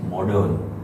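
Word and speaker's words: modern: मॉडर्न। मॉडर्न के अंदर are silent है, और वो मॉडर्न आर यहाँ पे है ही नहीं।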